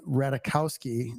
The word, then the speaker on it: Ratajkowski: So, we're talking about Emily Ratakowski. Rahul told me you don't pronounce the J.